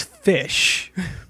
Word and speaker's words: ghoti: The GH is pronounced f, as in the end of rough, tough, enough. The O is pronounced I, as in women. And the TI is pronounced sh, as in station, portion. You could out the other fish.